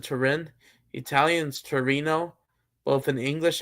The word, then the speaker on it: Turin: Yeah, I think in English you pronounce it Turin.